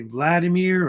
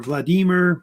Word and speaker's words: Vladimir: may have heard of May Vladimir or Vladimir usually Vladimir how they say it sometimes in Russia Vladimir the first or usually